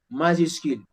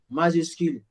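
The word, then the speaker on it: majuscules: Majuscule, S is silent. Lettre also, S is silent. Majuscule is silent.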